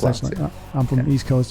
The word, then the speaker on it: La Place: LA Place, Place, Laplace is how it's pronounced. Laplace, I'm from the East Coast. It's like Place, and it's a capital P in my last name.